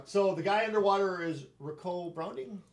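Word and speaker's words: Ricou: the guy underwater is ricoh browning rico yeah but it's spelled r-i-c-o-u which i've never seen before right well that's like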